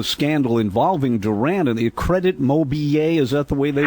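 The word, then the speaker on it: Crédit Mobilier: nation was the scandal involving Durant and the Credit Mobilier. Is that the way they Correct.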